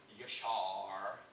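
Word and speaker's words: Yaşar: And in this video, I would tell you my last name, and I would pronounce it like Yashar, emphasizing it the American way, although I'm still capable of speaking Turkish perfectly fine.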